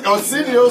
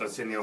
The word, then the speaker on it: Arsenio: I'm not even that familiar with Arsenio Hall's comedy. He just I'm rhymes. Not. It's just the name, rhymes with Millennial. If Arsenio Hall came to me with, like, what's your favorite joke of mine?